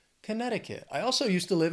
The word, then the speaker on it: Connecticut: Buffs next is Connecticut this is another one where the the spelling can can throw off the pronunciation A little bit if if you're trying to say it how it's spelled but Connecticut has four syllables the stress is on that second syllable Connecticut Connecticut I also